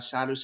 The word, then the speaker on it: sadhu: Sadhus, is that how you say it in India?